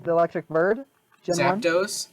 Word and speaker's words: Zapdos: See, but like Zapdos, was bonkers good. Zapdos, the electric bird. Gen Zapdos? 1? Yeah, you said Zapdos.